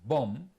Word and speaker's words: bomb: t-o-m-b b-o-m-b and c-o-m-b the first one is Tomb the second one is bomb and the third one is cone so same spelling o m b for the three words but every word is pronounced differently even British people don't know why are confused but they know that it is pronounced like this they call it crazy